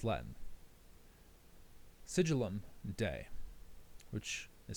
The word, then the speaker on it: Sigillum Dei: Sigillum Dei which is spelled s i g i l l u m.